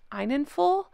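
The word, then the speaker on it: Enninful: I believe his name is pronounced Einenful.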